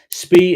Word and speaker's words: Spee: Spee is pronounced Spee.